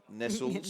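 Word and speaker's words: Nestlé: And Bundaberg holding down second place, then back to Drummoyne Nestles, and let's go with the Australian pronunciation, Nestles, Nestles. And then back to ANU Balmain.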